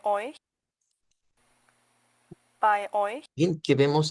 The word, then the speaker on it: euch: por eso escuchamos by, y luego hemos estudiado el sonido EU, vea, que sabemos que vamos a pronunciarla como hoy, y luego que el CH en este tipo de palabras suena como ch.